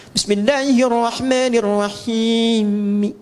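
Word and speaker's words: بسم الله الرحمن الرحيم: Bismillahirrahmanirrahim. Dimatikan kan? I-nya nggak dibaca karena wakaf. Nggak ada orang sehebat-hebatnya baca Quran sefasih-fasihnya Bismillahirrahmanirrahim.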